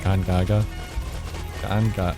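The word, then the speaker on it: Gongaga: really fight around in Ghana a lot or Gaga ganga I had to keep remembering that's actually how you pronounce it so it's kind of easy to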